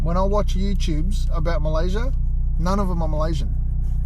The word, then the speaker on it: Malaysia: I've got to stop saying Malaysia. It's not Malaysia. It's Malaysia. I sound like white boys, man. Pronouncing my own country. That's silly. It's Malaysia, not Malaysia. There's no Z.